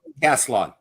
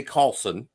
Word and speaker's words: Kaslon: Well, Kaslon, is that how you say it? Kaslon. Kaslon, we have Kaslon. appreciated you coming on the show. Honestly, that's how came about, because it was Kaslon, and people would say Carlson or Carlson.